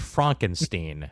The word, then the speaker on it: Frankenstein: It's Frankenstein. Yes, that. It's pronounced Frankenstein.